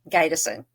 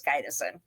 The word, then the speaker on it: Gydesen: Gison. And she trust me, everyone pronounces it that way for whatever reason, but it is Gaidison.